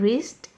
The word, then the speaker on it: wrist: Here W is silent in wrapped, W is silent in wrist, and T is silent in watch.